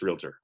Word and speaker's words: realtor: a realtor means and if you don't say it right then I'll make funny it's realtor um anyway so of